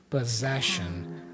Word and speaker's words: possession: And I love the pronunciation too because the first double s has a z sound pos. But then the second double s has a shh sound. possession.